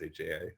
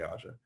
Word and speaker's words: AJA: from Aza Aja Chris would correct me it's pronounced Aja we always say AA um and they have some you know external